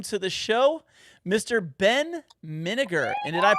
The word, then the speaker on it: Minegar: Minegar, just like vinegar.